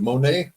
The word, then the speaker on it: Monet: Lynn I think it's Monae I'm sure is it Monae yes she's bobbing her in the Green Room okay I'm glad I got that right uh you don't pronounce the T she has a little